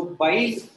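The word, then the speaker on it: bile: of juice called as बाइल pronunciation में कोई भी इसको बाइले नहीं बोलेगा, ये देखा है बहुत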